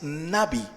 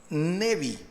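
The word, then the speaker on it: נביא: El vocablo hebreo para profeta es nabi, nabi o nevi.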